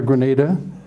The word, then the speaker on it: Granada: days are long gone here's beautiful downtown Granada Grenada and you might recall that in 1942 the